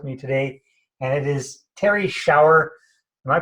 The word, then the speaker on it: Terrie Schauer: the call with me today and it is Terry shower am i pronouncing your name properly Terry pardon me yes